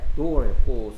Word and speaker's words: door: door였고 쓰는 방법은 D-O-O-R. 오케이 오오는 보통 우 소리 나는데 특이하게 오 소리 나고 있어요 Door.